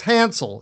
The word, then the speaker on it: Hansel: It's Hansel. Is that the right way to pronounce the last name?